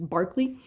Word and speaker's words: Berkeley: We just pronounce his name funny in the United States, but it's Berkeley.